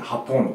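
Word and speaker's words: Japón: スペイン語とかでハポンとかなんですよ、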